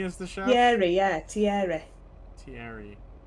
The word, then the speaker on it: Thierry: Thierry, yeah, Thierry. Thierry. We've got to say it with a French accent because he's French.